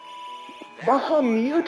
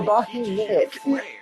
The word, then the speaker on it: Bahamut: Bahamut or Bahimut? Where's the I? Where's the E? Spell in the game.